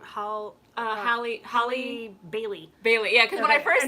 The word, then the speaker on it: Halle Bailey: But no, yeah, how do you pronounce her name? Bailey. Bailey. Halle Bailey. Halle Bailey.